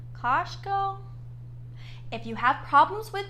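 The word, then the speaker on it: Kościuszko: let's start first with how do you actually say his name kashko if you have problems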